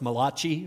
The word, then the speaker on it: Malachi: yet she must have known this passage it's Malachi a Keith you're Italian I heard there's another Italian in the room here somewhere that's pronounced mala chi for you guys it's mala Chi all right